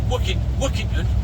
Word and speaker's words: Workington: But yeah, Jonathan from Trainwright Limited at Workington, or Wookington as the locals say.